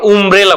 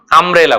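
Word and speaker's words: umbrella: কিন্তু যখন আবার একইভাবে যখন বলছি অ্যান আমব্রেলা, অ্যান আমব্রেলা যখন বলছি ইউ কিন্তু ইউ উচ্চারণ হচ্ছে, আমরা উমব্রেলা বলি না, আমরা কি বলি আমব্রেলা বলি।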